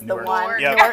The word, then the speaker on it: Newark: So I learned early on how to say Newark versus Newark for New Jersey.